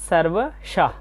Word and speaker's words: সর্বশঃ: পদে আসচ এরপর আছে সর্বশ শব্দের শেষে বিসর্গ থাকলে অর্ধেক হ এর মত উচ্চারণ হয় সর্বশা এবং শেষে রয়েছে